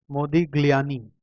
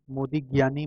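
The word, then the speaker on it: Modigliani: मोदी ग्लियानी, ग्लियानी, ग्लियानी, L silent है, ज्ञानी बोलेंगे। मोदी ज्ञानी मिलर अप्रोच।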